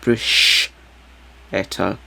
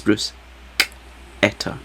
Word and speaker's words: bruschetta: So I had bruschetta, pronounced with a hard C, not bruschetta. It's not a brush, it's bruschetta.